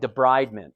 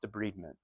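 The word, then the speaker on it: debridement: and me n de bment it looks it's spelled like debridment but it's pronounced de bment in wound care so when you de breed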